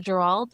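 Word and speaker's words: Geralt: think he captures the role of, was it Gerald? Is that how you say it? Yeah, it's Gerald.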